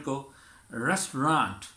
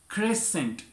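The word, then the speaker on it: crescent: Restaurant को restaurant, restaurant. Missile हम बोलते हैं तो हम कैसे प्रोनाउंस करें? मिसाइल। क्रेसेंट जिसे हम क्रीसेंट बोल देते हैं, क्रेसेंट।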